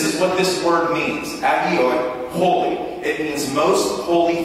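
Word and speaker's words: ἅγιοι: Saints being a translation of the Greek word hagioi, agioi, H is silent.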